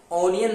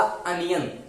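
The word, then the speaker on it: onion: ऑनियन नहीं पढ़ना है। जी हाँ, ये इसका जो करेक्ट प्रोनाउंसिएशन होगा, जो ब्रिटिश प्रोनाउंसिएशन होगा, वो होगा अनियन। तो यहाँ पे आप क्या लगाएंगे? अनियन। आप पढ़िए अनियन। तो आ का साउंड दे रहा है शुरू में, तो यहाँ पे जो कि आ गया है।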